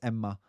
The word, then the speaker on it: Emma: Her name is Emma. That's how you say it in Finnish, not Emma.